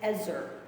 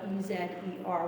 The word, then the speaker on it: ezer: that in in um Hebrew the word is ezer we spell it EZ e r when we transliterate it into English letters it's